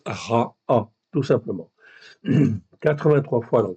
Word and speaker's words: רע: Donc je sais automatiquement que c'est bien en fait ici un ain donc ça se prononce ra a tout simplement 83 fois dans 80 versets.